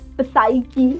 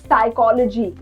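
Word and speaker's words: psyche: जैसे कि we don't say इट पसाइकी या फिर साइकोलॉजी डू we call it पसाइकोलॉजी नो we don't write we call it साइकी we call it साइकोलॉजी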